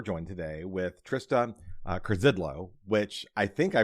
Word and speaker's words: Curzydlo: joined today, we're joined today with Trista uh Krzidlo, which I think I pronounced that right.